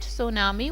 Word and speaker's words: tsunami: So T is the silent, so you will pronounce it tsunami.